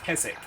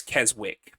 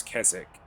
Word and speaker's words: Keswick: I think it's pronounced Keswick, by the way, even though it doesn't look like it is. Because of the W. It looks like it's Keswick, but I think it's Keswick.